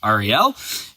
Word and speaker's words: Ariel: So we started at a school called Ariel Paragliding, which is a bit ironic because my name is pronounced Ariel.